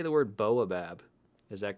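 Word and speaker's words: Baobab: I don't say the A. Boabab. The OTB disc guys named it. Boabab. I like pronouncing the letters that I see. I would rather say boa. Like a boa restrictor, boabab.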